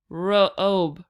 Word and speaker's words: robe: rah Oba Oba Oba robe robe robe robe robe so again the e on the end is silent the ob comes a long o sound oppa robe let's switch